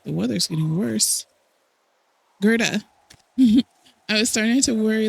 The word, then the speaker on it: Gerda: I have been saying her name wrong this entire time. It's Gerta.